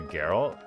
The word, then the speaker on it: Geralt: Cousin woman calls him Gerald and he corrected her to Geralt.